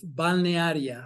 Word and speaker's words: Balnearia: But in fact, I'm from the great town of Balnearia. Oh my gosh, spell that, everybody.